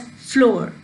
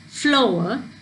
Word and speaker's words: flower: You don't say it as floor, you say it as flower, where there's hour sound, then there is sour.